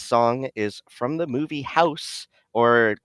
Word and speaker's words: House: This song is from the movie House, or many people pronounce it Hausu, but the the pronunciation is house because the last vowel is actually swallowed in the Japanese dialect.